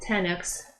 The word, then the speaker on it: Tenex: Clinic came up with a new procedure called tenic procedure and it's spelled te n x and basically they introduced